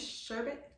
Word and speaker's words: sherbet: The last R out. It's actually sherbet.